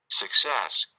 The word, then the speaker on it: success: success, success, Sek, bukan sak atau suk, tapi e. Kesalahan biasanya pada bagian awalnya.